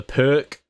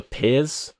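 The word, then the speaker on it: Pirc: good opening next up the perk or the pier how you're supposed to pronounce it also that's a hilarious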